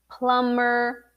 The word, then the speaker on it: plumber: in english every time you have the m b uh you're not gonna pronounce the b like climb plumber uh what else there are other words but anyway so correct this mistake when pronouncing the profession and also pronouncing other words like bomb not bomb but bomb was it news to you had you had you ever heard that before about the mb the silent b after the m oh well well so